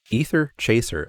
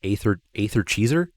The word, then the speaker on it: Aether Chaser: How did I mispronounce? Aether Chaser. I said what? Aether Cheeser? Aether Cheeser.